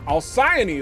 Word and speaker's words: Alcyone: Alcyone, that's how it's pronounced.